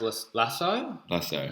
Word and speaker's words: Lasso: But we actually messaged him on the slide to kind of get his information, and it's actually pronounced Lasso. Sorry.